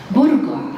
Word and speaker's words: burqa: with a small definition buruga as it's pronounced in the uae comes from the word